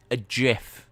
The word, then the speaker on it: GIF: Do you know, there's a GIF, that's how you pronounce it, of Lily winking.